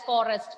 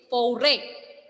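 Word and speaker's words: forêt: Here we are not pronouncing this word as forest. No, it is without S. The pronunciation is foray.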